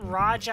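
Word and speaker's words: Raia: I've heard it Raja, I've heard it Raya, but Raya is probably the correct pronunciation.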